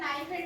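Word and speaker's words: knife: গুলো কি কি, যেমন স্যার নাইফের কি উচ্চারণ হয় না, ও তো সাইলেন্ট লেটার, আমরা ওটা বলছি, সাউন্ড ওই সাউন্ডটাই নেই, না ওই রকম, সে তো ওরাও তো এনজি দিয়ে করে দেয়।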